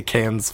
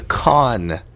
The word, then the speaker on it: Cannes: Baba nice oh the con that the actual word pronounced con in France France the way DOM